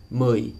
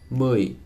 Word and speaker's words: mười: And that one you can practice by saying U and then relaxing your lips. U, u, as in mười, number 10, mười, or đưa, to give.